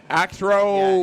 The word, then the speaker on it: Aixro: Oh, it's AIX an Axro. Axro. Yeah, Axro.